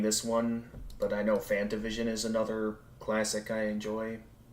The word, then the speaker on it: FantaVision: one but I know fantavision is another classic I enjoy say it again uh Fanta Vision like the drink uh that and vision